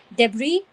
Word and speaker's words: debris: So it's debris, where the S is silent.